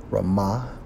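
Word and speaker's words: רִמָּה: to the hebrew strong's h 74 and 15 pronounced as rama which means what maggot worm now from a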